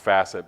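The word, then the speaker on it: fassets: It's pronounced facet, but it's spelled facet as in feature asset.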